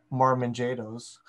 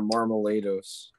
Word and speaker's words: Marmalejos: I was going to say Marmanjados. Oh. Yeah, Marmalejos. I joined...